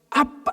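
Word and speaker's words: Abba: 근데 이게 그 아빠가 우리가 하는 아빠하고 발음이 똑같아요.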